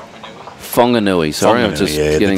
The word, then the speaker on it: Whanganui: Wanganui. Whanganui, sorry. Whanganui, I'm just getting the correct is pronunciation.